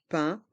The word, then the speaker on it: pain: Les étagères de pain. Et je répète, pain à le son 1. Pain.